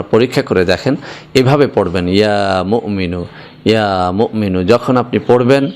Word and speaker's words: ইয়া মুমিনু: বন্ধুরা আমার, এখানে যদিও বাংলা লেখা হয়েছে মুমিনু, কিন্তু আসল উচ্চারণটা হচ্ছে ইয়া মুমিনু। এখানে মিমের পরে একটা হামজা রয়েছে, একটুখানি ধাক্কা হবে এভাবে, ইয়া মুমিনু।